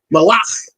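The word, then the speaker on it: מלך: And then malach, really with the cha, malach is M-A-L-A-C-H. Malach. There's a cha at the end. Malach. So you can maybe tell the difference. Malach, soft K, malach.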